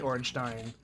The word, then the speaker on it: Ornstein: It's never spoken in game, so whatever, but it's spelled like a Germanic word, so it's probably Ornstein.